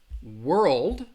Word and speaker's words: world: Again, both of these words have one syllable. And I think that L is in the middle world. That's where I think, again, you just really have to listen for it. So word. You hear that one syllable, word. Versus world.